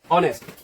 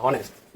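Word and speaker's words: honest: हुआ ये हमारा ऑनेस्ट बहुत सारे लोग इसको प्रोनाउंस करते हैं कि नेस्ट नहीं ये ऑनेस्ट है तो ऑनेस्ट के जो प्रोनंसिएशन है देखो वैसे तो ये क्या है ये तो वैसे ये एक हमारा कंसोनेंट है अगर इसका प्रोनंसिएशन करें तो ये ऑनेस्ट है इसका ये जो एच है इसका जो है इसका साउंड जो है ना साइलेंट होता है साइलेंट तो साइलेंट रने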